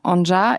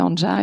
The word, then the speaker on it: Anja: C'est un prénom slave qui veut normalement ça se prononce an mais je trouve que ça a plus de poignes anja et ça veut dire élégance et grâce.